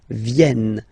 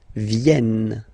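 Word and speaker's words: viennent: little bit your pronunciation you will have to pronounce this like e e okay so remember this classic ending n for the third person of the plural is here but phonetically doesn't exist so you don't pronounce it ven ven okay ven l all right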